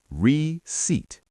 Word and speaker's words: receipt: Receipt. The P is silent. Reat.